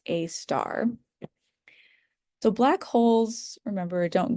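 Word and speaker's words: Sagittarius A*: hole that we call Sagittarius a star. Uh so this a with an asterisk that's pronounced a star.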